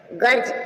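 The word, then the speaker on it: gorge: लेखा जोखा याय जी से पहले डी आया साइलेंट है बजट गर्ज गर्ज मीन र सा हो रही है य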